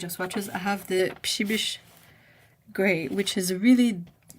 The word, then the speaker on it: Przybysz: swatches, I have the Psibish Gray, which is a really, I want to say, very Polish name. It's kind of difficult to pronounce and to figure out, but it's PRZYBYSZ.